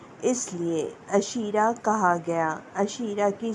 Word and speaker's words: عشیرہ: معاشرت کرتے ہیں اس لیے عشیرہ کہا گیا۔ عشیرہ کی سپیلنگ عین شین یہ رے اور گول ہے۔